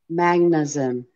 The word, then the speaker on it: Magsamen: Her name is Sandra Magnuson. It's spelled Magsamen.